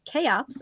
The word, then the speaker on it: CHEOPS: Pronounced CHEOPS, I have learned.